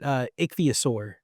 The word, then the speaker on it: Ichthyosaur: Ichthyosaur.